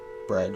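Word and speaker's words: Bríd: irish saint it's foreign it's pronounced with a long e there's an english art breed but the final d is like the d in bridgette it's almost sounds like j bridge breeze okay castle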